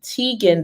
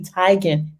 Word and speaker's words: Teigen: And I heard her name is not even Teigen, the pronunciation. It's actually Chrissy Teigen. Teigen, right? So we have been pronouncing her name wrong this whole time.